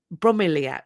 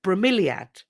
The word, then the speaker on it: bromeliad: sneaky sneaky games don't they some it's it's pronounced from bromelier bromeliad bromeliad bromeliad thank you very much right how